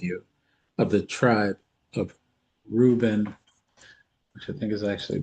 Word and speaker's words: Reuben: shall stand with you of the tribe of Reuben, which I think is actually pronounced differently. Reuben is actually pronounced Rohubani. Yeah, Rahubani.